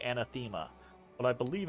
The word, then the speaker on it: anathema: same as you but the accent is on the second syllable and nathama so anathema and now and and wait my brain just broke I'm just now I have to look it up anathema anathema okay all right all right